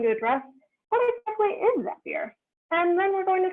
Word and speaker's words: Zapier: And just for clarification, their slogan is Zapier makes you happier. So we can say with 99% certainty that it is pronounced Zapier and not Zapier, because Zapier makes you happier just doesn't make any sense.